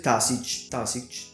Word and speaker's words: Taoiseach: la ferrovia Yarra Dairan, il primo ministro il Taoiseach, come si pronuncia lui.